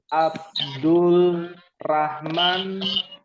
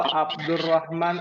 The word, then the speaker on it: Abdurrahman: Rahman atau Abdurrahman asudais jadi bacanya gimana Abdul Rahman atau Abdurrahman Abdurrahman abdahman Abdul Rahman atau Abdurrahman ABD yang pertama atau yang kedua Abdul Rahman atau Abdurrahman yang kedua kedua yang kedua sahih ya dan dalilnya ada di dalam surah Arrahman kan pakai alif lam Lalu ada rnya bertasjid ya ada lagi ada Ustaz